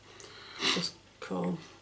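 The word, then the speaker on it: Khorne: Just corn. Corn. As in corn dog.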